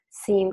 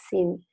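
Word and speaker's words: syn: La conformación donde entonces están eclipsándose los grupos luminosos se dice que es SIM. Están mirándose el mismo sitio, se dice SIM. En inglés se escribe S-Y-N, que no lo veo aquí, pensaba que estaba aquí.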